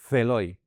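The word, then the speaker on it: ζηλόω: ¿Por qué lo pronuncia así? Porque era era una palabra onomatopélica en el griego. Es decir, que se su sonido, su pronunciación se parecía a lo que decía, a lo que significaba, como miau.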